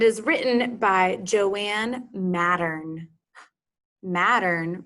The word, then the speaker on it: Mattern: Mattern rhymes with pattern.